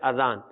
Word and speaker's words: اذان: اذان درست ہے، یعنی الف کے اوپر کھڑا زبر نہیں ہے بلکہ صرف زبر ہے اذان. اذان کہنا چاہیے، درست تلفظ یہ ہے.